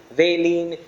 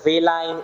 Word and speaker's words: valine: letters I and E, and I pronounce them amino acid and I call them serine, valine, threonine, and so forth. But there are also people who pronounce it as valine, serine, amino acid, and so forth. The choice is yours, but it's pronounced either way.